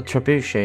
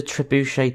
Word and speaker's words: trebuchet: go and watch the trebuchet test or trebuchet test people say it differently I think some people even say trebuchet but that's wrong I don't think you pronounce the T now let's see how